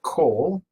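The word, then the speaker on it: כֹּל: of or the whole again pronounced Cole this is a comet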